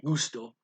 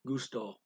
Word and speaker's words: gusto: trouble seeing okay okay gusto is not pronounced quite the same in spanish the accent is on the second syllable or evenly it's not gusto it's gusto okay uh what else